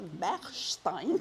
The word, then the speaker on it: Bechstein: para no osar pronunciar Ajá. mal su nombre, ¿no? Bechstein.